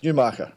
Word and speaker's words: Newmarket: to trust, here we've got a midwife from Newmarket. Is that how you pronounce it? Well done. Yes, Newmarket.